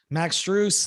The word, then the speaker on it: Max Strus: a team into a deep long playoff run max truce that's how you pronounce it we appreciate it uh thanks man